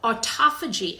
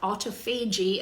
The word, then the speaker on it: autophagy: So autophagy, as it's pronounced, or autophagy, as it's spelled, refers to a process where cells are sort of eating themselves.